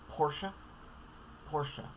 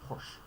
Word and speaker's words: Porsche: Porsche. Although common nickname Porsche.